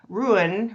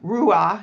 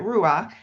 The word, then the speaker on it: Rouen: So, situated on the banks of the River Seine, Rouen, Roua is actually how you say it, Roua, has been Normandy's vibrant historic and cultural capital since the 10th century.